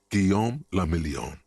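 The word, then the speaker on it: Guillaume Le Million: meant only one thing guillaume lamillion if it doesn't rhyme you're not pronouncing it right out of the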